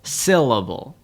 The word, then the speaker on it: syllable: In the word syllable, we emphasize the first syllable, syllable.